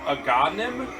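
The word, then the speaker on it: Agahnim: this game I don't I'm going to pronounce this wrong but it's aim a g a h n i m I was I was pretty close that's right you do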